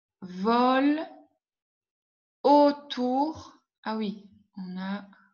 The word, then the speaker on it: volent: E, N, T, je ne prononce pas.